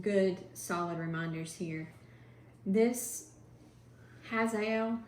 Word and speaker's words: Hazael: This Hazael, how do you say that? Is Hazael. That right? Hazael, sure.